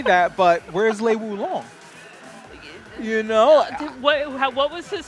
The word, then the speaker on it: Lei Wulong: I like Lei Wulong.